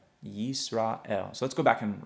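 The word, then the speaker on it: ישראל: shva inside the word, there is a rule that says you're not going to pronounce that shva, that it's going to remain silent. Okay, so this would actually be pronounced as yis.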